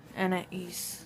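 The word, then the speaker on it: Anaïs: her name it is Anna E Anna Anna I've been saying an but it's Anna E and you know how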